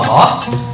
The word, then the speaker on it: Allah: dibuang kemudian disanji SID nah lafal Allah ini nanti bacaannya ada dua yang satu baca Takim yang kedua dibaca tarkik takhim itu artinya tebal kalau tarq itu artinya tipis bacaan lafal Allah ini akan terbaca tebal